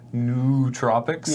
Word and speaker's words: nootropics: for Canadian cold meds that weirdoes seriously spelled nootropics yeah and it's pronounced nootropic yeah apparently their their brain drugs